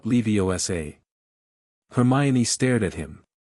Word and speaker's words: Leviosa: The emphasis is on the O. Harry said wing jar. I am Leviioa, not Leviosa.